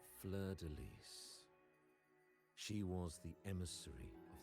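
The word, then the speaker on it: fleur-de-lis: Technically, fun fact, in French it would just be pronounced Fleur de Lis, because S isn't usually pronounced in French. Neither is H. Fleur de Lis.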